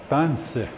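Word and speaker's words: tânsi: Tanese. Lately, again, getting back to that losing a syllable per generation, this is what you see. What does this say? Tanse. Tanse. So it went from tanese to tanse.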